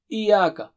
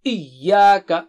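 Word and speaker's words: إِيَّاكَ: Don't say Iyyaka. No, Iyyaka.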